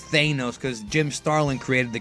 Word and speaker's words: Thanos: him tanos is because Stan Lee pronounced it as tanos during the Marvel magic hour back in the 90s